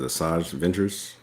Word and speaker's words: Asajj Ventress: Is it Asajj Ventress, Mm-hmm.